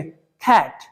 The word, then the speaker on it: cat: अब कैसे बोलेंगे, खैट, खैट, कैट नहीं, कैट हम लोग यूज करते आ रहे थे, इंडियन लैंग्वेज, इंडियन प्रोनाउंसिएशन, लेकिन हम लोग फॉरेन सीख रहे हैं ना, कैसे यूज करेंगे, खैट, खैट, कैसे बोलना है, खैट।